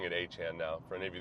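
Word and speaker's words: Etienne: are wondering about ETN, he's pronouncing it. I say now that's how he's always pronounced it, but he made it phonetically easier for people by saying just say ETN. So now it's uh it's back to Han, but they just let him go.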